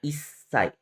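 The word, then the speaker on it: いっさい: Tapi ada pengecualian, ada 4 ya pengecualian di sini, yaitu usia pertama dia dibacanya isai. Isai. Ada tsu kecil di sini.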